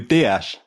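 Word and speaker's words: Dias: So the next guy is um Bartholomew Diaz. Bartholome I think would be how the Dutch would pronounce it. By dash that is how they say it Tom.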